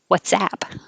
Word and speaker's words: WhatsApp: uh with whatsapp so the app is app whatsapp and filthy which means very